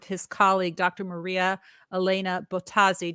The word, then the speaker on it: Bottazzi: Maria Elena Bottazzi. Did I pronounce her last name correctly? Perfect. But they were 2 T's, 2 Z's.